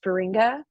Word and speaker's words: Feringa: common name it's my my Mom was adopted by a Dutch person so it's a Dutch name which is cool is it but so it's like ferrinka uh when you're supposed